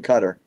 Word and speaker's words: Qatar: four billion he's in Cutter is it's pronounced cutter okay yeah so H